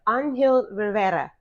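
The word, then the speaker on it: Angel Rivera: say his name correctly this week we have anill Rivera yes there it is you got it actor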